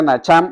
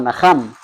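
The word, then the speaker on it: נחם: Pero en la Biblia original utilizan el verbo hebreo que se pronuncia nacham o naham, que también significa sentir pesar.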